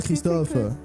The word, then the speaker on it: Christophe: Déjà, tu le prononces mal. Oh, voilà, c'est ça qu'on veut. Voilà, il faut dire, Christophe.